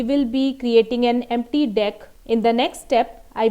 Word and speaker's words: deque: Deck basically is pronounced as deck only, it is not dequeue, and it stands for double-ended queue.